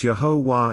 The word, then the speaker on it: Yahowah: So then how is it so few acknowledge that Yahuwah is pronounced similarly? Is not Torah's O from the Wah and its R from the Hey? And that means that the only remaining Hebrew letter in God's name is the one with the most obvious pronunciation, Yod.